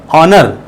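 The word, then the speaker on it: honour: का प्रयोग इसका जो प्रोनंसिएशन करेंगे हिंदी में ऑनर ऑनर आ से शुरू हो रहा एन आ गया ऑनेस्ट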